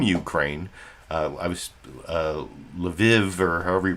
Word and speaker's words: Lviv: pronounce lviv as i if it's key shouldn't be leave if if uh ki if kviv is keev shouldn't lviv be leave no it's lev i guess but like i said